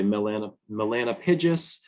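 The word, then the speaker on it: Bombus melanopygus: So here we have the black-tailed bumblebee, Bombus Melanopagus, or some people say Melanopidges.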